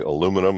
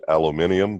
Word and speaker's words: aluminum: lead and mercury and Americans say aluminum and you folks probably say aluminium but you know what